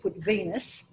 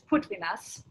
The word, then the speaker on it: Putvinas: So my father's name was Putvinas, but Australians pronounced it Putvinus, but the correct pronunciation is Putvinas.